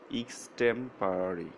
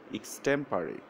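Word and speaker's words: extempore: এটি সঠিক উচ্চারণ এখানে আছে দেখুন ইস্টেম্পারি। এক্সটেম্পারি এক্সটেম্পারি এক্সটেম্পারি।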